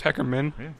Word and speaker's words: Hackerman: Hackerman, movie #movie buff, It's pronounced Hackerman.